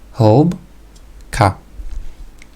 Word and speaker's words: hĺbka: So, the word hĺbka has two syllables, hĺbka.